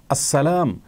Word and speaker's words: আসসালাম: কখনো সন্তুষ্ট হবেন না অতএব আসসালাম এভাবে বললে আল্লাহতালা খুশি হবেন আসসালামু আলাইকুম বা এভাবে